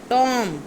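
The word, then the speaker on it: tomb: अब जो टॉम होता है मकबरा, इसका बी साइलेंट है. टॉम.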